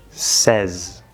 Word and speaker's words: says: But, for that third person, when we add the S, it becomes says. S plus the third vowel, e, and then that last S is a Z, just to make it